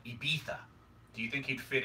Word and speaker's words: Ibiza: am I correctly pronouncing Ibiza because it's not Ibiza?